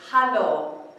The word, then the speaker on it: hallo: In Dutch, they say hallo. So it's just a little bit different pronunciation than our hello.